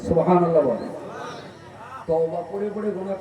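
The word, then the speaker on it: سبحان الله: আর যদি উচ্চারণ ঠিক করে করতে পারেন সুবহানাল্লাহ, তাহলে সওয়াব হবে। আর যদি ঠেলে দেন সুবহানাল্লাহ, গোনা বেশি হবে।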